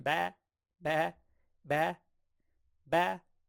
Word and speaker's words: 八: 八 Ba, ba. So I think of sheep, ba, right?